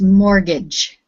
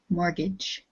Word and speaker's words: mortgage: take out a mortgage we don't pronounce the t it's just mortgage mortgage mortgage good and number